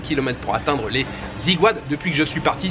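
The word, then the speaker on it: Aiguades: Donc oui, le programme aujourd'hui les amis, c'est d'abord les Ziguades. Je me suis renseigné, normalement ça se prononce comme ça s'écrit A-I-G-U-A-D-E-S.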